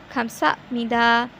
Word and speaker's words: 감사합니다: So this is how we pronounce it, 감사합니다, 감사합니다, which means thank you in Korean.